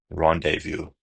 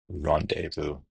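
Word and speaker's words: rendezvous: So, we're going to drop the zed and the s. And the word would be rendevu. Rendevu.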